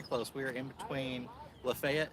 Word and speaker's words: Lafayette: We are in between Lafayette. It's spelled Lafayette, like the Marquis de Lafayette, but it is pronounced Lafayette, Georgia, and this is Trion, T-R-I-O-N.